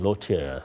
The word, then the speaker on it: Leautier: what this all means let's go to frani Lota senior partner and CEO of Southbridge Southbridge Investments